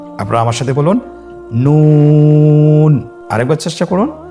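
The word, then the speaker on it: نون: নুন হরফটি উচ্চারণের ক্ষেত্রে অবশ্যই পাতলা করে উচ্চারণ করতে হবে এবং 3 আলিফ টেনে পড়তে হবে। আপনারা আমার সাথে বলুন নুন। আরেকবার চেষ্টা করুন নুন।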